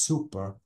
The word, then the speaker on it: super: oh Bravo so guys super is only one p and I have to pronounce it as super and this is supper with double P this is something strong